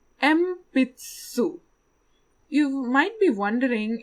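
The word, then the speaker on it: えんぴつ: we have a long pencil pencil is called empaths so you might be wondering it's written en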